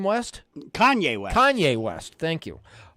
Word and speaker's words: Kanye: hip-hop Superstar King how do you say it Kane West Kanye West Kanye West thank you um he said